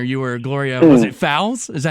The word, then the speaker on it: Fowles: Growing up, Newark, New Jersey, before you were Gloria Gaynor, you were Gloria, was it Fowles? Is that how you say it? Fowles, yeah.